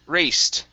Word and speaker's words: raced: Next up, we have the word raced. Make sure to pronounce that T sound at the end.